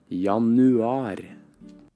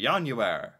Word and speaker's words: Januar: I was like, oh, January, Januar. But to pronounce it correctly is the key. I want to have good pronunciation. Januar. Is that better? I think that's better.